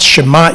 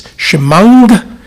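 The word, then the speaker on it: שמע: The ayin letter, that in modern Hebrew is mute, is pronounced as a ng. So when I was taught to say the Shema Israel, it was not Shema Israel, Leolam Vaed.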